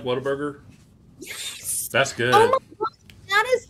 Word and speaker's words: Whataburger: it I don't know Whataburger no it's what a burger like it's a giant isn't that what I